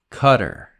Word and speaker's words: Qatar: is a country and the pronunciation in English actually changes a little bit I personally prefer Qatar but some people say cutter Sky tracks in 2015